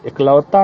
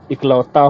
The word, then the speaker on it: इकलौता: कौन सा शुद्ध है एकलौता लड़का है मेरा एकलौता नहीं जी इकलौता होता है उसी तरह एक तारा